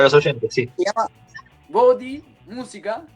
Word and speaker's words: Bodhi: Se llama Body Música y se escribe BODHI.música.